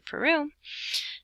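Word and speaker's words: Perú: And Peru in Spanish has an accent on the U.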